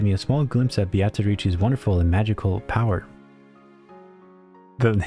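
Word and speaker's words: Beatrice: a small glimpse of Biatarici's wonderful and magical power. The name No, you don't understand. They say it as Batarici there. You'll hear it. I won't talk over it. You'll hear how they pronounce it.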